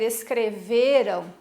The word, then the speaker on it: escreveram: quando eu vou dizer escreveram percebam que a sílaba tônica é a essa aqui ó vê escrever o verão não é o finalzinho como a gente acha que é muitas vezes lembra uma